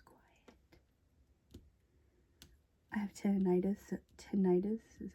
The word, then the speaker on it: tinnitus: I have tinnitus.